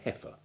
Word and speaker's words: heifer: milking cow known as a heifer with a silent eye from the northern english